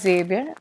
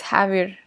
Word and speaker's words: Javier: If you from US point of view, you can say, you can pronounce it as Xavier, but from the Mexican, or you can say from the Spanish, it's Javier.